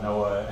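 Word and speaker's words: NOAA: So, if you would tell the jury what is Noah and how do you spell that? uh Noah NAA it's the National Oceanic and Atmospheric Administration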